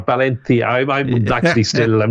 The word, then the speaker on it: Valencia: Um, in fact, it's actually it's actually Balencia, but Valencia.